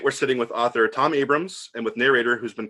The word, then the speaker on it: Abrahams: And it is Abrams, right? You know, it's not Abrahams, it's Abrams. It is Abrams. It's spelled cool. Abrahams, but it's pronounced Abrams. Yeah, and I say it